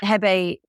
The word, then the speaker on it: Hebei: And I got some excellent Marselan from the Hebei, as they kept telling me to pronounce it, Hebei province, and also Ningxia, which obviously is the most well-known Chinese wine region.